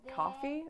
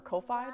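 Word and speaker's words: Ko-fi: uh one that's called coffee or kofi depending on how you pronounce it k-o-f-i um which is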